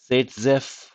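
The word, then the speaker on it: Zaitsev: it is termed as szf elimination now here this is the actual spelling of it but the way it is pronounced is s so there could be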